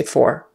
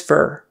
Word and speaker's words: for: what are those for we would always say for we would never say what are those fur that would sound um kind of back woodsy uneducated I'm not trying to